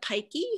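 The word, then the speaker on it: Peycke: The two major composers are Frida Pikey, who lived in the LA area, and she wrote about 340 of these, publishing about a fourth of them.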